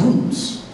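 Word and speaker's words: רוץ: Run as a Hebrew word is pronounced roots.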